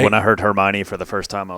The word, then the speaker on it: Hermione: When I heard Hermione for the first time, I was like, that's how you say it?